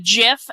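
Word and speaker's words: GIF: It's like somebody kicks the door of the inn just like wide open and goes, "It's pronounced Jiff, and I will not be taking questions."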